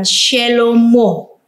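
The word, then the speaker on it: שלמה: Jadi kita dapat membacanya dengan shelomo. Jadi he yang kedua ini dibaca menjadi o. He yang pertama tadi dibaca menjadi ah.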